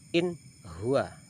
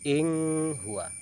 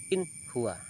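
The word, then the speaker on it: إِنْ هُوَ: Ha yang pertama contohnya yang nun mati, in huwa, bacanya jelas, tidak boleh ing huwa, jelas in huwa. Apabila ada nun mati bertemu dengan ha maka dibaca jelas.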